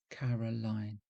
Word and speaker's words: Carolyne: So I decided to spell my name C A R O L Y N E. Unfortunately, it can be pronounced Carolyn as well as Caroline, and I'm often called by the former.